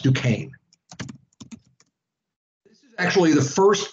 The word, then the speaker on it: Duquesne: frontier of pennsylvania at a place called fort duquesne it's duquesne is how it's spelled d u q u e s and e but it's pronounced duquesne this is actually the first military fight that